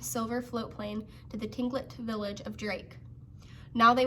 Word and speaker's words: Tlingit: Garvey said he was a Tlingit Indian, pronouncing Tlingit proudly with a clicking of his tongue, as if saying Tlingit.